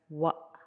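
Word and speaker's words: ワ: Katakana wa, pronounced as wa, wa, wa.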